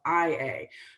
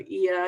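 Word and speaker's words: Oia: So if you're trying to find, for instance, a bus that goes to Ia at the top, it's spelled O-I-A, but sometimes it's spelled I-A.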